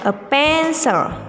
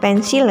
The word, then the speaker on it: pencil: Ini bacanya a pencil, bukan pensil ya, nak.